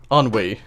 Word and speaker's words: ennui: Ennui is how you pronounce that.